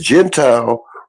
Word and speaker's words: Gentile: Because Gentile rhymes with reptile.